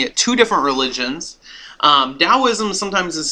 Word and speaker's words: Daoism: two different religions um Daoism sometimes is spelled t AO i m with a t and sometimes with a d but it is pronounced as if like da like uh some you've